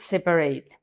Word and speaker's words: separate: These two pillars aren't separate. Separate. La primera A no se pronuncia. Separate. Y la segunda A se pronuncia como E. Separate.